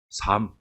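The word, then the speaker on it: Psalm: 삶. P-S-A-L-M. P는 묵음이라고 그랬고요. S-A-L-M을 한글로 그대로 옮기면 뭐예요? 삶이에요.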